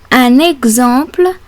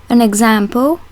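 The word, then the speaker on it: exemple: word Fox and finally the X in the word example is between two vowels and is pronounced like the X in the English name Alexander how is the letter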